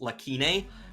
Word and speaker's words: Lacune: Lacune? It actually is an English word, and it's pronounced Lakine, which means unfilled gap.